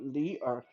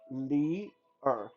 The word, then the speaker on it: Li Er: For those who are interested, Lao Tzu's real name was Li Er. That's how you pronounce it, Li Er. So Li and then Er.